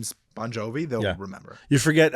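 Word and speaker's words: Bon Jovi: for you you might if you see it on paper you might mispronounce Bonjovi because like G I vi you know like it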